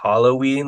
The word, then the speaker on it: Halloween: like they like yeah technically I think it's supposed to be Halloween like it's a hollow day yeah because of old